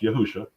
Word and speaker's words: Yahusha: which is very interesting his actual name is is pronounced yahusha and if you know